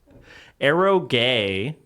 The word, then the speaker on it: eroge: I don't generally talk with people with mouth noises on how to pronounce this stuff. Etchi? No and no. Okay, I'm just completely wrong. Eroge.